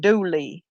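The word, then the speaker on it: Dula: of or a that turning a into a ie like for instance doula would turn into dually like his actual name I think is Tom doula but he's pronounced Tom Dooley in the South yeah he was hung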